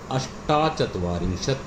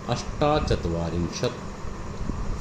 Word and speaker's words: अष्टाचत्वारिंशत: 45 पंचचत्वारिंशत, 46 षट्चत्वारिंशत, 47 सप्तचत्वारिंशत, 48 अष्टाचत्वारिंशत। ये 48 में या 38 में या 28 में आपको याद रखना है, इनमें आ की मात्रा लग जाती है, अष्टाचत्वारिंशत, 49 नवचत्वारिंशत और 50 पंचाशत।